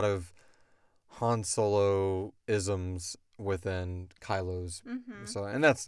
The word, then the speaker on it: Kylo: name to be kylo because kylo rhymes with solo I don't want to